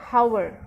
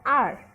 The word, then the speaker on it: hour: So you can see, we don't say an hour, right? We say an r, where this h is silent and this sound of the vowel is prominent, okay, right?